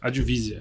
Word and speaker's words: Advisa: da advisia né ah é assim a pronúncia advisia advisia é um pouquinho